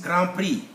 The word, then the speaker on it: grand prix: at your own pace grand prix there is x there but we don't pronounce it then there is why